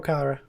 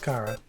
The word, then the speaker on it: Chara: Chara or Kara? I'm pretty sure it is actually pronounced Kara, but Chara just seems correct to me.